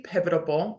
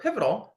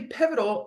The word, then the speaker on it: pivotal: results and that's really pivotable or pivotal I I don't know why I love that word so much and always mispronounce it but it's really pivotal in what we do